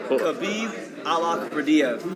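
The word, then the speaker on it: Khabib Allakhverdiev: We put because he pronounced it right. I gotta give him some It shots. was Khabib Alakardiev from Jesse Vargas.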